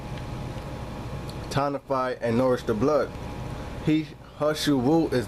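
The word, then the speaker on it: 何首乌: Ha Shu Wu, pronounced Ha, similar to English Ha, but not as open.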